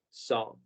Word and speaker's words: saw: El sonido que hace la vocal A aquí es O y la W es muda, así que solamente se pronuncia saw.